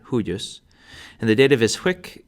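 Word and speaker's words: huius: Hawk for the nominative the genitive is huus for all three genders and that's a two- syllable word huus and the dative is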